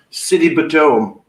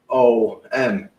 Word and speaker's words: Sidebottom: I'm like, what's your surname? City Batum. Right. So I says, oh, so why do you spell that? SIDEBOTTOM. I says, oh, it's like side bottom then. Well, got a right look. Well, it's a side bottom. It's not like City Batum.